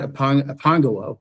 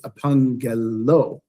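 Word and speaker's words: ἀπαγγελῶ: We want to pronounce, it's not apangelo, it's apangello. Apangello, right? So you're voicing the double consonant there, because in the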